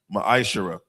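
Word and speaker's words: מעשר: It means 10th in the Hebrew is pronounced ma'ashara.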